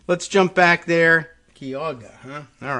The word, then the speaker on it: Geauga: It's pronounced Geauga.